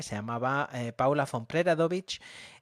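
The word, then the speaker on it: Preradović: llamaba eh Paula Fon Preradovic y bueno, pronunciado propiamente eh Preradoovit debería ser, ¿no? Nosotros decimos lo terminamos en che, pero pero no es así.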